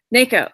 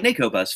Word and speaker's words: Neko: Neko. Right. Like Neko Bus from My Neighbor Totoro.